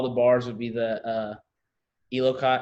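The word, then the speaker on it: Eleiko: All the bars would be the Elocott. I can't even say the word. Low key bars, the ones that cost like $1,500. Lico bars. Lico, yeah. Did I say it right? Lico, there you go.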